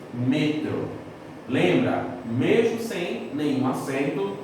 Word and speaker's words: metro: E em espanhol, a sílaba tônica veio para trás, passou a ser metro.